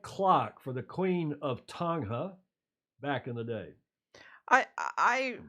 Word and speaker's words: Tonga: Tonga? No G. Tonga. It's a Tonga? soft G. Yeah. Oh, Tonga. We got to get that right.